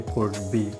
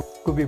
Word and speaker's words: could be: Condition के अंदर हम यूज़ करते हैं कुड बी। क्या इस्तेमाल करते हैं? कुड बी। अच्छा, कुड बी को कुबी प्रोनाउंस करते हैं। क्या प्रोनाउंस करते हैं? कुबी, जब वो तेज़ी से बोल रहे होते हैं।